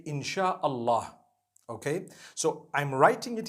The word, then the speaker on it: Insyaallah: s-y-a they pronounce it they pronounce the s-y the way we pronounce s h so they can write